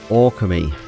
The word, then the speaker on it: Okami: Hello and welcome back to Okami. That's a bit better pronounced. I just did a few things on the title screen just to really try and get that pronunciation down. Okami.